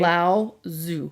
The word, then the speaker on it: Lao Tzu: The ancient Chinese philosopher, can you pronounce his name for me? Lao Tzu.